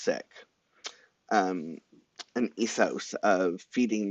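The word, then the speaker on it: Sikh: Punjabi um especially sick which is seek but it's actually pronounced sick um an ethos of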